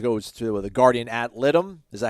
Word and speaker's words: litem: Shout out to those guys for coming in out and supporting, and then obviously it goes to the Guardian ad litem. Is that how you pronounce it?